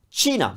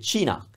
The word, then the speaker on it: Cina: Cina. The country. Cina.